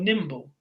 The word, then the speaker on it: nimble: agile and the word nimble. Metrically, they're the same, agile, nimble. They're both trochaic, so they have a stress on the first syllable, not the second.